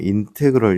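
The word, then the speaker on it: integral: 자, 여기서 이제 요거 읽을 때 어떻게 되냐면 인테그럴 이렇게 읽어요.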